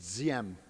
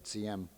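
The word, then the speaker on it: Diệm: His name was Diem. Fancy pronunciation is Diem, and that's one thing I've learned being against the war in Vietnam for 5 years, is how to say Diem.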